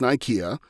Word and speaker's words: Nicaea: in there is a real world council of nicaea which could also be pronounced nykeya that occurred I want